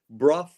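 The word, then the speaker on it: Brough: for for you because it's called bro Superior ss100 I've seen this bike in person it's more beautiful than the pictures b r o u g h BR R there you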